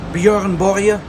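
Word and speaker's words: Björn Borg: it's told you remember Bjorn Borg or as my wife says she's Swedish so she knows Buuren Borya that's how you see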